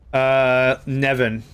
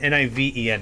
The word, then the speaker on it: Niven: Nevin. I'm still trying to read the first Ring World. Nevin? Hold on. It's Niven, N-I-V-E-N. I pronounce it as Niven.